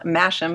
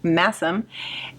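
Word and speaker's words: Masham: It's spelled mashim, but it's pronounced massim.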